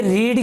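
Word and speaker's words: read: तो होगी नहीं देखिए रीड की सेकंड फॉर्म भी यही होती है स्पेलिंग लेकिन नाउस अलग होता है रेड बोलते थर्ड फम में भी रेड बोलते है नो वे डे स्टूडेंट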